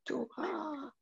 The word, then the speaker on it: Torah: Donc, en fait, le Vav, ici, c'est pas un V, c'est un O. Ah, oui, d'accord. Parce que vous savez que le Vav a trois prononciations différentes, soit le V, soit le O, soit le OU. Donc, ta, to, ra. Et le A, c'est le E, en fait.